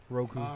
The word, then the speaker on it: Roku: Roku. Roku's 3. Roku So- rhymes with Goku.